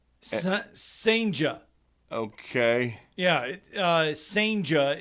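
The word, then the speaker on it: Senga: Yeah, Senja is how you say his last name.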